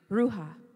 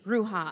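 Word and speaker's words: ruach: wind and that word comes from the Hebrew ruha and it's spelled r u a c h ruha and that means again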